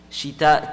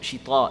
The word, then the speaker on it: شتاء: So rihlata shita'i, shita, ta is not like ta, so you can't say shita, it's shita.